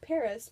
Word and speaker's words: PVRIS: to another t-shirt and there's this band called Paris but they spell it with the V so it's pvris and